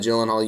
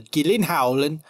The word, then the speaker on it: Gyllenhaal: I'll go into this with caution so that I don't oversell myself on the Gyllenhaal. That's kind of how you say his name.